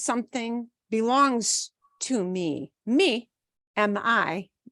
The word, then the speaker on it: mi: The word mi is spelled M-I because we pronounce every letter as it should be in Spanish.